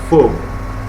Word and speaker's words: faux: In general, consonants found at the end of a French word are not pronounced, like faux. Okay, it's pronounced as faux.